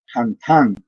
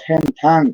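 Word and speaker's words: Hantaan: donde está precisamente el que nos interesa, el virus Hantan o Hentan, como quieran, así se pronuncia.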